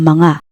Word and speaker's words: mga: use the marker ang mga. The pattern is mas plus adjective plus ang mga plus things. A quick tip on mga, it is pronounced like ma nga.